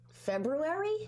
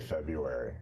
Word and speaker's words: February: February? That's what I say. What do you say? I say February. It's supposed to be February.